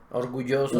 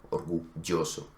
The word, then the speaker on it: orgulloso: Perú, o en España, en ninguna de ellas se dice orgulloso. ¿Sí? Entonces, esto generalmente... Ni en Colombia. Ni en Colombia. Entonces, esto generalmente es... orgulloso. Un error. Sí. Ajá. Normalmente se pronuncia la Normalmente se pronuncia orgulloso, ¿sí? El sonido que se utiliza en la mayoría de países es Y, es una Y fuerte, orgulloso, o silla.